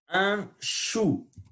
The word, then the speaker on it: chou: Un chou. Au ou en français, au u, son ou. Un chou, les choux. Voilà la prononciation du ch. On fait silence.